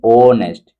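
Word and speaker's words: honest: ये जो तुम्हारा एच है ना उसमें क्या हो जा रही? इसमें साइलेंट हो जा रहे। देन उसमें हम क्या बोलेंगे? ओ नेस्ट।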